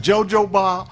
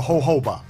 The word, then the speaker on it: jojoba: The Spanish people, the J is silent.